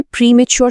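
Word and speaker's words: premature: এখানে প্রিম্যাচুর শব্দটার উচ্চারণটা একটু খেয়াল করি।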